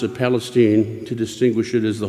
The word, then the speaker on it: Palestine: The locals pronounce it Palestine to distinguish it as the Holy Land of Texas rather than the Holy Land of the Middle East.